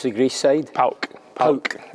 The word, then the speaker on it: PAOK: Your Arsenal career came to an end and you signed for, how do you pronounce the Greece side? PAOK.